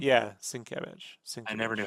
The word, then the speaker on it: Sienkiewicz: yeah, Sienkiewicz.